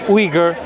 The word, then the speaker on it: Uyghur: Uyghur. Yeah. Some people pronounce it Uyghur. I just go with the Uyghur, because that's what people are familiar Muslims, with.